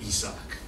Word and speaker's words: Isaac: know I was like why are they saying Isaac's name isak that doesn't make any sense stupid courteous what's wrong with their pronunciation and I carried this